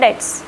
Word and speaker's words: debt: Bankrupt is not having enough money to pay your debts. ये क्या लिखा है, debt not debts. B is silent.